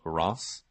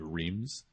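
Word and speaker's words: Reims: to clear her way to a city called Ross so that's it's a really weird spelling it's actually if you look at like the English pronunciation it's the city of reams but in French is called Ross which is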